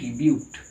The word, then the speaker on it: but: ওটার উচ্চারণটা বিউট বলা হচ্ছে, আসলে বানানটা হচ্ছে BUT, বিউট।